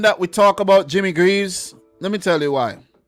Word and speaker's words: Greaves: Or Greaves, if you want to pronounce it. Greaves. In St. Vincent, we pronounce it Graves. Don't know why. But Jimmy Greaves, I think it's Greaves.